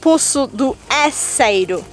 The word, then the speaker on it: Poço do Enseiro: It is Poço do Enseiro.